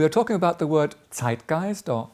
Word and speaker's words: Zeitgeist: We are talking about the word zitgeist or zeitgeist as it is pronounced in English which spells zi t